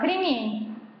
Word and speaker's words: кремень: Кремень. Конечно, да, кремень. Здесь на первый слог дано ударение, это неверно.